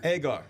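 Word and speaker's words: Egar: Well, I never know how do you pronounce Shuli's last name? Is it Agar? Agar. Agar. But everyone messes it up.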